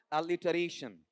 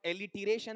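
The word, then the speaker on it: alliteration: अनुप्रास या एलिटरेशन। इसका उच्चारण एलिटरेशन या एलिटरेशन। एलिरेशन।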